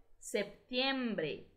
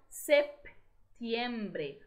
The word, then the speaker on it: septiembre: La independencia de Brasil se celebra en septiembre. Percebam que no espanhol todas as letras de uma palavra são pronunciadas, tá? Então, septiembre. O P, ele quase sai, tá? Septiembre. Mesmo sendo uma letra muda.